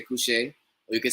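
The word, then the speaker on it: kushe: So some people say couche, K-U-S-H-E.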